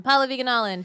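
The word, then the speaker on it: Pallavi Gunalan: I'm Paula Viganalin, PALLAVIGUNALAN.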